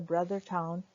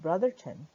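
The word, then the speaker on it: Brothertown: slide is on the brother town which is also pronounced Brotherton both both are correct pronunciations each slide also contains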